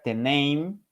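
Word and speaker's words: τέμνειν: Y el término anatomía viene de una palabra griega que se pronuncia teneim, que significa cortar.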